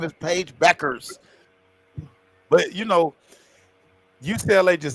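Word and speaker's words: Bueckers: Yeah, people said don't pronounce the U. I think you said that man. Somebody said don't. Yes, man. Ryan with checkers, man. Beckers. Her name is Beckers. Somebody tried to say Buckers.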